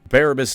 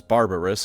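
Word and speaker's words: Barabas: still better than nothing barabus dantioch a loyalist iron Warrior and man whose name I keep pronouncing is barbarous on accident sacrificed himself and overloaded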